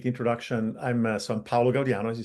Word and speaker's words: Paolo Gaudiano: I'm so I'm Paulo Gaudian as you said excellent pronunciation.